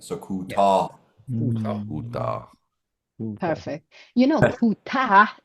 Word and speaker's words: کوتاه: So with the kutah, you need to hit the H as well at the end. So kutah.